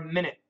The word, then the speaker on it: minute: Minute or minute? Both. I tell my DDM students, for the word minute, M-I-N-U-I-T-E, most Americans will pronounce it M-I-N-I-T with both short I's.